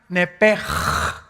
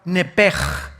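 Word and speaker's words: נֶפֶשׁ: La palabra, la letra o las letras sh del hebreo se pronuncian en hebreo como J. Entonces se pronuncia nepej.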